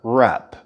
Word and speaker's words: wrap: the project soon and remember the W is actually silent in the word rap now I'd like to